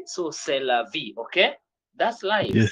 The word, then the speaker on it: c'est la vie: we say those consonant last consonant is silent so based on that